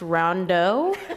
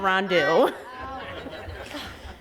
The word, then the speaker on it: Rondeau: I just want to say it's pronounced Rondeau, not Rondeau. Good morning, everyone. I am Petty Officer Second Class Rondeau, but 5 years ago, I was sitting right where you are.